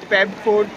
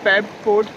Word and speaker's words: Peb Fort: किया कि let's go पेब फोर्ट, जो PEB प्रोनाउंसिएशन होगा पेब फोर्ट।